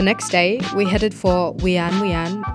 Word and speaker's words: Whian Whian: day we headed for wean wean Falls also it could be pronounced Yan Wan so don't add me